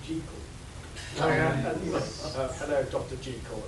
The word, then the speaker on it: Jekyll: And the Jekyll and Hyde Society turned up to make sure they pronounced it Jekyll.